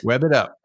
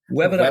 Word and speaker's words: Webbitup: Web It Up. Web It Up. Web It Up. It's like Rev It Up, but it's Web It Up.